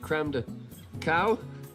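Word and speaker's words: crème de cacao: You put brandy and with creme de cow, that's how you say it.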